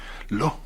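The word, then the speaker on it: Law: era moderna fue ese Lo, se apellidaba así, Lo. Se escribe L-A-W.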